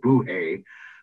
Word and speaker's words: bolo rei: That one is called a bolo rei. Actually, the dialect pronounces it buhe. It's a Portuguese bread, but we'll get to that.